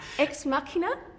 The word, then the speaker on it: Ex Machina: cool to be part of how would you pronounce us you a terrible Muriel ex machina ex machina ex machina yeah no you nailed